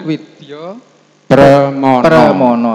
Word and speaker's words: Widya Pramana: Tulisannya begitu. Widyo Membacanya Permono ya Pak. Jadi ya. Widyo Permono.